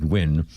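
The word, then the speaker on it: Nguyen: It's pronounced win in Vietnamese.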